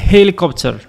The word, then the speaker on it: helicopter: A helicopter. Ici, c'est pas un h muet, c'est un h normal.